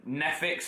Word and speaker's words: Neffex: Now, I've got to say Eminem will be up there, Neffix as well, which is spelled Neffex.